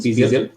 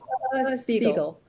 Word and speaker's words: Spiegel: Is it the right pronunciation? Spiegel? Spiegel.